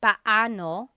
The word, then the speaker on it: paano: just a pronunciation tip it's technically paoo when they two vocab when they're two vowels together you say them separately but but when speaking quickly Filipinos just say p now let's practice using paano